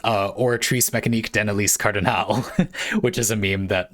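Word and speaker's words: Oratrice Mécanique d'Analyse Cardinale: I was struggling with the pronunciation, and Bionic you said it's pronounced Oratrice Mécanique d'Annelise Cardinal, which is a meme that will live rent-free in my head until the day I die.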